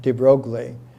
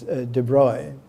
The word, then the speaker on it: de Broglie: I used to use the American pronunciation for his name, de Broglie, but it's de Broglie.